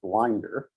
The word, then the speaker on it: Blinder: Blinder's always pronounced Blinder.